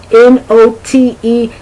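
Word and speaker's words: knot: node nod not note n-o-t-e not not can be spelled n-o-t or k-n-o-t okay so that's the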